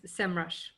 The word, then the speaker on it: Semrush: what is it officially how do you pronounce it now it's semrush summer so you used to